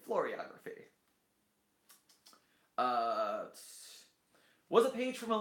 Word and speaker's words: floriography: Tucked inside the Lot 76 Commonplace book, footnote 16, near the end of a section on florography? How do you say that word? Floriography. It's like choreography. Floriography.